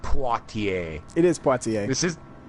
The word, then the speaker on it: Poitier: And Rodney looks at the TV and he goes, he says it's pronounced Poitiers. He says it's Potter.